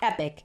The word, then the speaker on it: epoch: Each of those periods can be broken down into a smaller unit of time, called an epoch. Epoch, if you like the British pronunciation, epic, if you like the American.